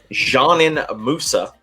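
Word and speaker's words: Džanan Musa: sent to brooklyn for let me see if i can get this right jeanine moussa is how you pronounce it he is a 21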